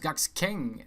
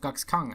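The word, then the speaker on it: Gaxkang: footnote witness gatsking oh it actually pronounced guck's king instead of cox kang i was pronouncing it completely wrong anyway so there he is gux kang ex-kang sorry the unbound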